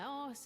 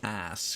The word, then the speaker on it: arse: now Harker owns my arse until I can pay off the debt. If you're going to have an English accent, pronounce it as arse. Spell it the English way, A-R-S-E, not ass, because then it looks silly.